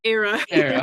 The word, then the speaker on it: Aira: Was it Ira or Ira? Aira. Okay.